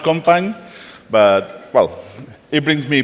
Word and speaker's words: Company: It's pronounced Compagne, but, well, it brings me problems somewhere.